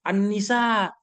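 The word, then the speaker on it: An-Nisa: baca tesis anda itu walaupun terusannya tertulis Al Al alnisa tulisannya tetapi kami juga sudah mengerti kalau dibaca itu Annisa ya Ann begitu walaupun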